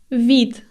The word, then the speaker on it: вид: used after the words for example next word vit vit The Voice D at the end is pronounced like T vit vit finally a word